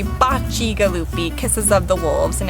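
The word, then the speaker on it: Bacigalupi: vineyard the bocce galoofi vineyard people might say bossy galoopy or bakigalupi say that one more time since that is the most unbelievably difficult name well so it's pronounced correctly bocci galoopy kisses of the wolves in italian but right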